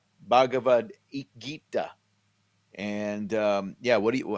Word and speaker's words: Bhagavad Gita: Bhagavad Gita. Bhagavad Gita.